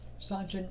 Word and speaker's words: Sanchin: Sanchin is the Okinawan mispronunciation of San Zan, but it has the same meaning.